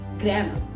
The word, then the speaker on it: grammar: अब वहाँ पे यहाँ आर से पहले ए आ रहा है तो यहाँ पे आ की साउंड आएगी, यहाँ र की साउंड आएगी। इट is called ग्रामर। Awesome, ग्रामर, नॉट ग्रामर। Okay, many people pronounce it incorrectly. It is grammar.